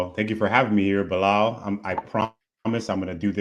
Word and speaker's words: Belal: I like it more every time too, and I think you pronounced his name pretty close to correctly back in the day. It was Belal, which was good.